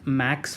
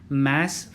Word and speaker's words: MAS: इट्स नॉट मैक्स financial, MAX नहीं है, बहुत सारे लोग गड़बड़ कर जाते हैं प्रोनाउंसिएशन में. इट इज़ मैस financial services limited, MAS.